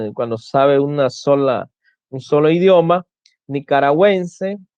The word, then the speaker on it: nicaragüense: Cuando la U debe ser pronunciada en las sílabas we, wi, por ejemplo, tenemos pingüino, paragüero, guiro, lengüetazo, lingüística, monolingüe, que es cuando sabe un solo idioma, nicaragüense, bilingüe, cuando sabe dos